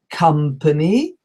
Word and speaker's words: company: The fifth mistake is when we pronounce the O in company, and we should be saying company, company.